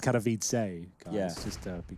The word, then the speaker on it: Katowice: I think it's pronounced Katowice, guys, Yeah.